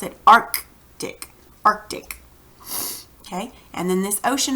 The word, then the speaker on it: Arctic: see right there so you cuz you actually pronounce it arc DIC Arctic okay and then this ocean over here on